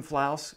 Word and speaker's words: Flouse: I'm Flouse, rhymes with house.